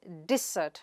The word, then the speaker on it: dessert: Do not confuse this word with desert, which is a dry and arid area. The word di-zuht here means, the sweet that you have after your meals.